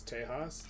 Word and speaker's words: Tejas: to generate some infamy Mexican in some cases pronounces uh like J so in my Spanish it's Tejas what the that's my